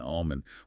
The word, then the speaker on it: almond: about those silent letters we talk about salmon and almond why do we even have those silent L's if we're not going to say them those Sil silent letters